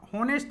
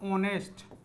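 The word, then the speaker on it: honest: इसको होनेस्ट नहीं पढ़ा जाता है। एच इसमें क्या रहता है? साइलेंट रहता है। एक बार बताएंगे कि साइलेंट वर्ड क्या होता है? यहां क्या पढ़ा जाएगा? ऑनेस्ट।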